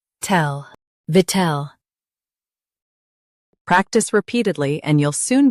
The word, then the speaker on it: victual: Stress vit and keep ul soft. V, tel, VICTUAL.